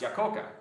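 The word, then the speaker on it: Iacocca: aoka is originally pronounced yoka it's it's an Italian name his parents were immigrants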